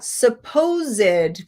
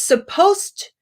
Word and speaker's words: supposed: this is another one instead of like again if it's in the simple past and you're saying he was supposed to take out the trash he didn't he was supposed to then you you don't add the extra syllable but if you're saying something is not clear it is the supposed uh that was the supposed end to the story but